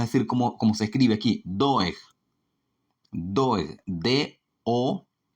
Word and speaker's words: Doeg: Lo vamos a decir como se escribe aquí, Doeg.